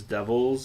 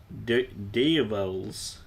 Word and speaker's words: devils: other than to say that this one character pronounces devils in this as Deevils.